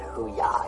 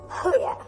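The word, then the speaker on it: hooah: No, I said simply a hua. That's what I said. No, you said hoo-ya. You said that way earlier, too. No, I didn't. Say it for me. Hua. There, I said it right that time.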